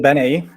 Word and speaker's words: Benei: to and I'm not sure if I'm pronouncing your name correctly Benet sort of like yeah how do you how do you say it it's called Bene Bene uh but that's fine totally fine uh